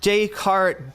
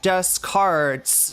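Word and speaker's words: Descartes: existential possibilities that uh Renee Decart discarded um daycart deskarts he deskart get it cuz that's a mispronouncing mispronunciation of his name it's the best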